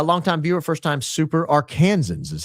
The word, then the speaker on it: Arkansans: A longtime viewer, first time super Arkansans is how it's pronounced.